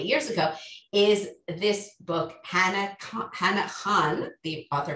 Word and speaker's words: Hana Khan: what happened 40 years ago is this book hannah han the author pronounces in hanakon carries on which is written partially in an